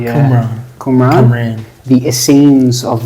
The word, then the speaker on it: Qumran: Qumran, the Qumran Is that how you community. pronounce it? Qumran, yeah. Qumran.